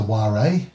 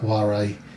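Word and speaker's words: whare: I copied the name down, and again I'm going to be apologising in advance for the pronunciation. That building is what they refer to as a ware, W-H-A-R-E, which is like a communal meeting house.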